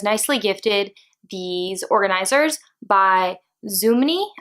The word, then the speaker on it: Zoomoni: gifted these organizers by Zuma knee I think is how you pronounce the brand it has av I'll show you their little it's the brand it's really cute little kangaroo so zoom on E I think is how